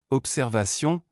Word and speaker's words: observation: En français, la lettre B peut sonner comme P lorsqu'elle est suivie des lettres S ou T. Observation, l'observation des étoiles est une activité fascinante.